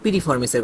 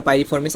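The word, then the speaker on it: piriformis: করে দেখো এখানে আমাদের পিরিফর্মিসের কথা বলা হয়েছে পিরিফর্মিসের কথা বলা হয়েছে আচ্ছা এটা পিরিফর্মিস বা পাইরিফর্মিস আমরা একটা উচ্চারণ করতে পারি তো পিরিফর্মিস বা পাইরিফর্মেস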